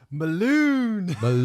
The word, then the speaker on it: Mulewn: This comes from Mulewn. Is that how we pronounce his name? I know we got it right a couple of episodes ago, but normally I'm pretty bad with names.